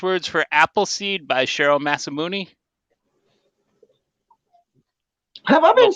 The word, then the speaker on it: Masamune: Masamune is the proper way, but yeah, Masamune is his last name.